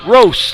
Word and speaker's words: Roast: I want to make sure we understand that it's Coach Sean Roast, like a roast.